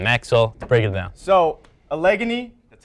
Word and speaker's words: Allegheny: gators at denison maxwell break it down so allegheny that's how you properly pronounce it it's from pennsylvania they got their